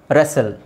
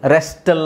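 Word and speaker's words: wrestle: okay ಆಮೇಲೆ ಇಲ್ಲಿ ನೋಡಿ ರೆಸೆಲ್ ರೆಸಲ್ ರೆಸ್ಟಲ್ ಅಂತ ಹೇಳಲ್ಲ ರೆಸಲ್ ವಿಸಿಲ್ ವಿಸಿಲ್ ಹೊಡಿತೀವಲ್ಲ ವಿಸಿಲ್ ಅಲ್ಲೂ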